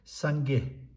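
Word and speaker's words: སངས་རྒྱས: We know this is not one of the prefix, so you have to pronounce this. If you pronounce this is suffix, this is post suffix. So this should remain silent.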